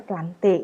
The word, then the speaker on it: Plantae: ini adalah kerajaan tumbuhan tulisannya plantae tapi dibacanya pelanti itu tata cara bahasa Latin dengan anak ini dari